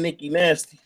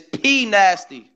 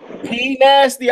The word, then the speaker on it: Pnasty: It's gonna be hard to find Nikki Nasty. Nah, I ain't saying Nikki Nasty. How much? What you think? Say, spell it. It's Pnasty. Pnasty. I thought you said Nikki Nasty. Yo, it's Pnasty.